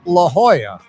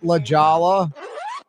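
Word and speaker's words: La Jolla: and the affluent suburb known as La Hoya. or you can mispronounce it. Ljala, that's Drew Brees live.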